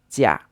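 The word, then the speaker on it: 驾: And this is pronounced jia.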